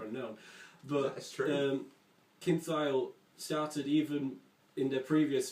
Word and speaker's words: Thayil: Kim Thayil, for instance. That starts with tile.